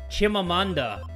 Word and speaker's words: Chimamanda: It's four syllables. Chimamanda. Chimamanda.